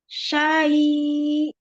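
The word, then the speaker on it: شيء: Ya, harus lebih tekan. Jadi tekan nadanya naik aja. Syai'. Syai'. Nah, gitu. Jadi orang tahu. Oh, ada hamzah gitu. Soalnya kalau tadi bacanya gini, nggak terlalu terasa kan ada hamzah. Iya, iya. Nah, kayak gitulah. Jadi ada penekanan terhadap hamzah.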